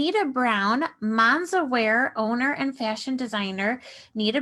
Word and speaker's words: MansaWear: Her mother's flair for color, quality fabrics, and tailoring have influenced MansaWear's structured silhouette, bright colors, and bold fabric prints. And it is MansaWear, right?